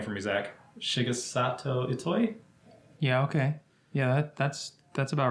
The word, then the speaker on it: Shigesato Itoi: Shigesato Itoi?